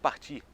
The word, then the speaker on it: part: O verbo partir. Eu parto, tu partes, ele parte. Em francês, je pars, tu pars, il part. É a mesma pronúncia.